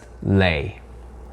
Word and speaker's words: Le: definitely kind of confusing if you're saying Li you may be referencing my Koreans and Chinese out there with le E or Li or get this maybe even another common Vietnamese last name ly but if you want to say L e correctly it's just lay you know like the potato chips number four on the list is pH a.m.